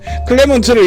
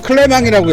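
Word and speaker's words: Clément: 제가 이거 잠시 헷갈렸던 게 트레디션이라고 읽어야 될지 트라디시옹이라고 읽어야 될지 지금 헷갈려가지고. 근데 앞에 샤를 클레먼트 트레디션 브리 이렇게 읽었으면 상관이 없는데 클레먼트를 이미 불어식으로 클레망이라고 읽은 터라 이걸 트레디션으로 할까 트라디시옹으로 할까 계속 헷갈렸어요. 근데 원래대로 불러주는 게 맞지 않겠어요? 샤를 클레망 트라디시옹 브리라고 읽는 게 맞을 것 같아요.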